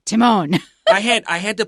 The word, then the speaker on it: Timon: one on YouTube and they said tyman tyman and I thought okay well I've checked and then Chris just said Timon I had I had